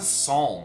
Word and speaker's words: psalm: why do what's a psalm what was what do we mean when we call it what's the deal with that funny p at the beginning of psalm like why don't we pronounce that why is this such